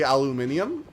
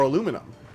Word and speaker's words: aluminium: Do you say aluminium or aluminum? Cuz if you say aluminium, people are going to say, "Oh, you have a bit of a British accent."